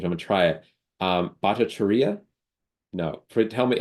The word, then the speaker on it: Bhattacharyya: Bhattacharya. No, tell me how shall I pronounce your name correctly? Very close. I'm Bhattacharya.